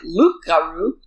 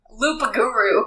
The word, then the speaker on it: loup-garou: Anyway, the loup-garou... Loup-garou is how it's spelled. Loop-a-guru.